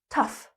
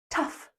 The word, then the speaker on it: tough: Tough. Tough. The o u g h is pronounced like stuff or enough.